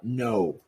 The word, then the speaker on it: know: the first thing is the silent k as you guys know the word no we don't say it as no we say it as uh no um the difference is